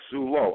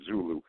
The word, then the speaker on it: Zulo: And when Mike Zulo stepped out, Mike Zulo, I have to watch my pronunciation of Zulu. I've been getting emails that Zulu is a tribe in Africa, and I'm well aware of that.